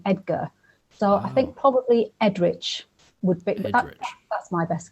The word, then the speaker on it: Eadric: But basically, at the end of Old English names, if there's a C, it tends to be pronounced ch rather than a hard ch.